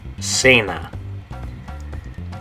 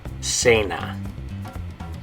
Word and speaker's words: cena: have it on here, it's a word in Spanish that makes the soft C sound. Okay, so in English it's dinner, in Spanish it's this word. Okay, and the way you say it is cena. Okay, so in English you would have dinner, in Spanish you're going to say cena.